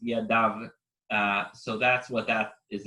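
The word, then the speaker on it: ידו: So here it says Yado, it's pronounced Yadav.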